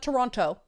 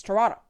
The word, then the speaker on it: Toronto: toronto east right meaning you don't pronounce the second t in toronto it's not toronto it's toronto that's the way we